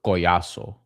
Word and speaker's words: Collazo: Uh Oscar Collazo, I mean Say say his name in the in the way you're supposed to, Brian. Uh Os- Oscar Collazo. There we go.